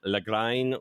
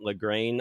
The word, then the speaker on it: Lagrein: Lagrein. Lagrein. I'm going to say Lagrein. I actually have zero idea how to pronounce this.